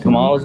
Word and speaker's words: Kamala: Kamala's going to win. Kamala, her name's Kamala, bro.